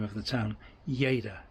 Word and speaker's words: Lleida: name of the town yada it's double l so it's a y yada anyway yada toqua um